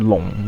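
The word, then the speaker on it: 笼: of the theme but the Chinese pronunciation for long which means cage it's the same as long which means dragon now there are a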